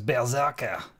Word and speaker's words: berserker: Why does everybody say it wrong? It's berserker.